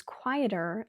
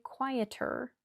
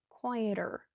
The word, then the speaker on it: quieter: This street is quieter than the main road. That's another flap T. I didn't say quieter, I said quieter.